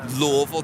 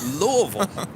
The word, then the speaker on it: Louisville: differently case in point Louisville Kentucky yeah what do most people say Louisville wrong in Louisville Louisville you gotta twirl that tongue a little bit so even there that